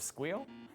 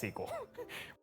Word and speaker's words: SQL: They even cover pronunciation. You ever heard of squeal? Okay, it's SQL.